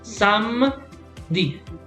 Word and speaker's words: samedi: So it's samedi. You type it like this. So let me show you. So even though you have here ni, you don't read this one. Okay, so it's samedi. 2 syllables.